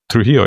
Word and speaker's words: Trujillo: Trujillo.